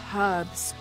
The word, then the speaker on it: herbs: be a mixture of herbs herbs excuse me Lara we run into any more Jaguars the eight is silent in herbs we odors over here